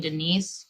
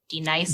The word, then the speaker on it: D-Nice: Do you mean Denise? Son, no, you say your name right now. Denise? Say it right. Denise. Correctly. Denise. Right. Denise. Right. D-nice. That's better.